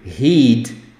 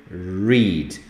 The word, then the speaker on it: read: Então, a possibilidade de falar I need to heed é grande, mas não é o correto. É na ponta da língua, ela vibra, né? I need to read. Parecido ali com o red, de vermelho, que também treme a ponta da língua na hora de falar, né? Read, red, tá bom?